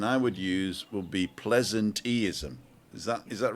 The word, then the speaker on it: pleasanteeism: So I think that the pronunciation I would use would be pleasanteeism.